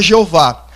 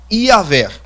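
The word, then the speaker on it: Iavé: Existe um certo consenso entre os teólogos pós-modernos, os teólogos da modernidade, de que a pronúncia mais exata não seria Jeová, mas a pronúncia mais exata seria Iaver.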